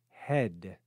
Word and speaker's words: head: we pronounce that syllable we simply pronounce the short e sound e and we say head we don't pronounce the letter A at all so since there's not